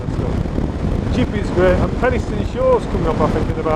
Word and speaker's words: Penistone: Well, I should explain, we are going to Penistone, and that is pronounced Penistone, not Penistone.